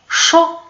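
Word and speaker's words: chaud: شو ساخن، دونك شو ديك الدي ما بانش في النطق ديالها، ما بانش.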